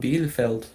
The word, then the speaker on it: Bielefeld: Bielefeld. Okay. Okay, you're a much better pronunciator than me.